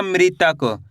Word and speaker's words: मृतक: म में ऋ की मात्रा मृता तक क तो मिलके बन जाएगा मृतक। कैसे पढ़ेंगे? मृतक।